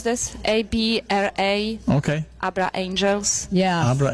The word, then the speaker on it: Abra: it's Abra. That's how you pronounce this. ABRA.